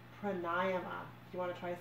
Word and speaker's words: pranayama: Pearl of Wisdom number 2 is the Sanskrit word pranayama, which is classically mispronounced as pranayama, but it's actually pronounced pranayama.